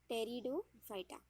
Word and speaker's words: Pteridophyta: P is silent. Pteridophyta.